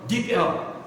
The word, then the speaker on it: DeepL: And you will learn from Deep L.